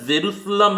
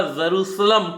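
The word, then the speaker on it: Jerusalem: Israel की capital जेरूसलम है, याद रखिएगा जेरूसलम, कई लोग इसे जेरूसलाम पढ़ते हैं, इसकी सही प्रोनाउंसिएशन करनी है।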